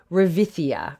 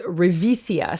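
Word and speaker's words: ρεβίθια: In Greek, the word is revithia. I don't know Greek, but it is revithia. So I'll spell it for you because the name of so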